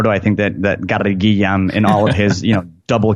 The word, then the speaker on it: Gilliam: It's not Gary Gilliam. You got to pronounce it correctly. It's Gary Gilliam.